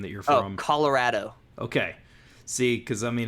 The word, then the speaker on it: Colorado: Oh, Colorado.